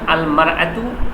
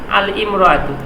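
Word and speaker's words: المرأة: আল ইনসানু আল ইনসানু সেইদিকে ইমরাতুন শব্দের শুরুতে যদি আলিফ লাম যুক্ত হয় তাহলে আমাদের পড়ার কথা ছিল কি আল ইমরাতুন কিন্তু তা না করে আমাদেরকে পড়তে হচ্ছে আলমারত এইভাবে কোরআন হাদিসে ব্যবহার আছে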